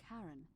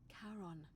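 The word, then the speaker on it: Charon: it's just as you described it only your pronunciation is a little off the name you heard wasn't karen it was c h a r o n as in caron the ferryman of the dead i was right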